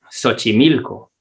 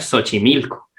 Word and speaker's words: Xochimilco: le van a decir tiene que irse a xochimilco tiene que ir a visitar xochimilco y de hecho a mí me ha pasado que una vez cuando iba a xochimilco la primera vez le pregunté a una persona